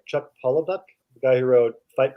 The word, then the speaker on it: Palahniuk: Chuck Palahniuk, the guy who wrote Fight Club. Oh, Chuck Palahniuk. Palahniuk, Yeah.